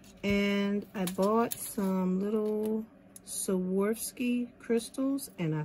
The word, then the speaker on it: Swarovski: So for this one, I'm going to use E600 glue, and I bought some little Swarovski crystals, and I said it right.